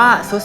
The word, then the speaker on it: ทรุด: เลย หรือ จะ เป็น ทอ ทหาร เรือ แต่ ออก เสียง เป็น ตัว ซอโซ่ นะ ครับ เช่น คำ ว่า ทราบ เห็น ไหม ทราบ ทรุด โทรม อ่าน ว่า สุด โทรม เป็น ต้น เนาะ